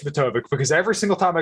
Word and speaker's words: Matovcik: I'm like, I should just tell him it's Matovcik, because every single time I go on a podcast, someone's like, "How do you say your last name?" It's Matovcik.